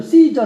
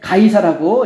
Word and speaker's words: 가이사: 그래서 다름을 해수 나 우리가 흔히 알고 있는 대로 는 씨저 라고 하는 발음 이에요 시점 씨저 가 뭐냐면 로마의 황제를 이야기하는 거죠 네 그럼 한 형제가 다이 차인데 지리적인 데 성경에서는 이제 가 이사라고 이제 발음을 하고 있구요 그렇데 여기